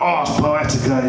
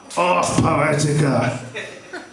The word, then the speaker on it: Ars Poetica: called Ars Poetica, but it's not like arse, as in you're sitting on your arse. It's spelt wrongly, but I always pronounce it like kind of the Ian Dury way, like Ars Poetica, you know. It sounds a bit more fruity, doesn't it, you know?